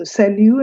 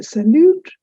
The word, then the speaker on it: salut: Please note also the word salu has a t at the end but that is silent. So you don't say salute, you say sal.